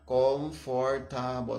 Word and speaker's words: comfortable: second syllable is for, because the word has comfortable. So the word has four syllables, but the second syllable is not really given strong emphasis.